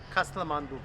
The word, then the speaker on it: Kasthamandup: I They'll teach us how to pronounce it. Kasthamandup? Kasthamandup.